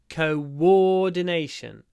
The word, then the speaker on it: coordination: teams is very important listen carefully to what happens with the o o at the beginning it's co co like go co War donation Co War Co there's a w coordination coordination coordination coordination he